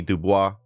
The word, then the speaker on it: Du Bois: socialists are communists from W.E.B DuBois uh Du Bois I think he's I think that's how you say it W.E.B Du Bois